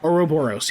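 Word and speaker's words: ouroboros: how do you say that oroboros oroboros yes that's it um but the image the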